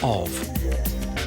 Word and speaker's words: of: this their brain overlooks the word of because the F is pronounced like a V tina turner loves